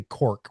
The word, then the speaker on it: Cork: I always say Cork, which is like the American um pronunciation, but what's the proper pronunciation?